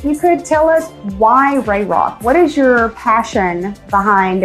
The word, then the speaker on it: Rae Rock: So, Ray Rock Services, um, the name Ray Rock, you know, it's spelled a little differently, R A E R R O C K.